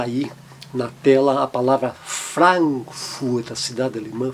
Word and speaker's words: Frankfurt: na tela a palavra Frankfurt, a cidade alemã, Frankfurt ou Hamburg, seguido de M e N, o A, mas ele mantém um som bem aberto, Frankfurt, Hamburg.